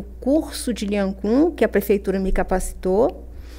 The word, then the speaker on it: Lian Gong: Sim, é Lian Khun. Escreve-se Lian Gong e se pronuncia Lian Khun.